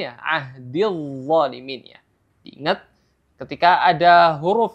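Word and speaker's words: الظالمين: Jadi cara bacanya qala la yanalu ahdil zalimin, bukan ahdil zalimin, ya, ahdil zalimin, ya.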